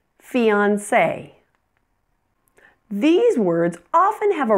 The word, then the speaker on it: fiancé: Words that have been borrowed from French pronounce the final E as A. For example, resume, café, fiancé.